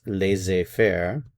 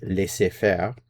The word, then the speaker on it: laisser-faire: was taken from French, which in English is pronounced laisser-faire, but in French it would be laisser-faire, which means to allow or let to do, literally.